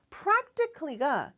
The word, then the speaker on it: practically: 여기서는 부사입니다 여기도 클리 부분에 크 발음 세게 안하셔도 돼요 이렇게도 발음이 돼요라는 뜻인데 practically가 실질적으로라는 뜻이잖아요 거기 하나